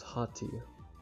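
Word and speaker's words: haughty: Pronunciation. Hotty.Oh, so it's Hati.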